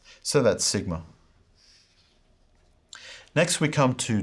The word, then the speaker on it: sigma: In the Erasmian pronunciation, sigma is pronounced with a z sound, as in hose, hose, z. In the modern pronunciation, it's more of a straightforward S sound, as in sit, sit.